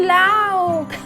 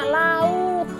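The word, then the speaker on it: laugh: Star tang Wang I love bukan air laut Memang tulisannya Lha ughh lauk kalau dibawakan cara pengucapan kita itu seperti mumpung Cannon bahasa Indonesia jadinya salah jadi jangan dibilang lauk tetapi love Saya tertawa i-look Saya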